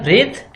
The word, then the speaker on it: breath: नाउ हमारा next term है ब्रेथ एंड ब्रीथ। दोनों का प्रोनाउंसिएशन बिल्कुल अलग है और मीनिंग भी बिल्कुल डिफरेंट है।